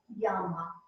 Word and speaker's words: llama: Let me go back to the double L. It is pronounced as a Y. Llama.